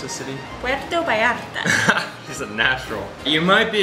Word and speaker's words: Puerto Vallarta: definite you might be a gringo if you pronounce this city porto by Arda or portable ardha how is it pronounced the city web doe by app isn't natural you might be a gringo if